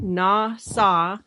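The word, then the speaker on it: נָשָׂא: the word NASA and it's pronounced na saw is strong five three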